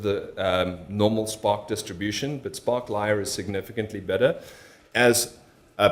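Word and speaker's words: sparklyr: how to say this I'm gonna say sparklier but I've heard sparkly are sparklier are we good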